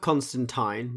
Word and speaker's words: Constantine: It's spelt Constantine, but it's Constantine.